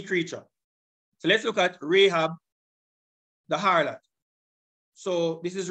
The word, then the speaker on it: Rahab: Greek script of the name and it is pronounced this way Strong's G 4460 rabab Rahab and it is a proper feminine noun so it's the name of a female and it is of Hebrew origin Rahab two times which are the two New Testament